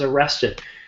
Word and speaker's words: arrested: And we have a T, so it's pronounced id. A man was arrested.